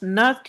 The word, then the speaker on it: Nernst: ये theorem नर्स्ड heat theorem बच्चे, इसके अंदर जो वर्ड है एन आपका ये साइलेंट है, इसलिए इसको लिखा तो जाता है बट इसको प्रोनाउंस नर्स्ड हीट थ्योरम के नेम से किया जाता है।